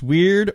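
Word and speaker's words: wyrd: And it's pronounced weird or word.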